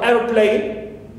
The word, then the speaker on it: airplane: And also airplane, so air receives the primary stress here. Clear? Airplane, and of course second parts here receive secondary stress.